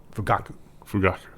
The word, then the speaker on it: Fugaku: I think the emphasis will be on the middle syllable. Fugaku.